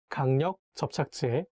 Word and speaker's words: 강력 접착제: So if you read this word 강력 접착제, I recommend you to make a little pause in between two words and say 강력 접착제 instead of reading them all together, because it will be not easy to read.